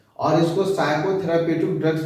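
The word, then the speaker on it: psychotherapeutic: करता है, इसलिए इसको साइकोथेराप्यूटिक ड्रग्स भी कहा जाता है। पी हमारा साइलेंट होता है, साइकोथेराप्यूटिक ड्रग्स।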